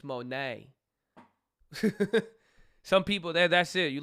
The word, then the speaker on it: Monet: It's not money, it's Monet.